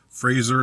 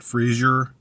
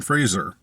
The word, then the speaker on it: Fraser: you say his name it's just Fraser not Frasier um I believe so